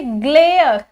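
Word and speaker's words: glare: इसी तरीके से फेयर, इसमें भी लास्ट में आ गया तो मैंने ई नहीं प्रोनाउंस किया ना। इसी तरीके से ग्लेयर, ठीक है, इसमें भी अगर मान लो मैं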